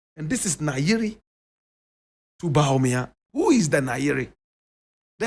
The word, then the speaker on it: Bawumia: And he's telling one of his own, Bawumia. That's the correct pronunciation of the name. Bawumia.